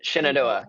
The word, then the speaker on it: Shenandoah: How I don't wanna butcher the name. How do you say it? Shenandoah? Shenandoah, yeah.